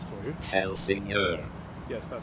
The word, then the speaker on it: Helsingør: At the moment I am in a place which I will let the voice over me pronounce for you. Helsingør.